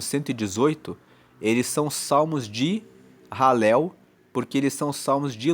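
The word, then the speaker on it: Hallel: sequência e que são chamados de salmos de ralel. Halel se escreve H a L e L.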